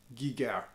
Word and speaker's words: Giger: Ibanez made with HR Geiger. Giger. He's Swiss, I'm not. My pronunciation is bloody awful. So being Scots, I go Geiger.